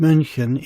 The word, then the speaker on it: München: Much like the German city with the English name Munich is pronounced München in German.